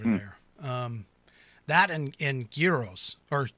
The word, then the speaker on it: gyros: um that and and gyros or heroes i'm sorry gotta it's not a hard g it's a light g heroes um in and made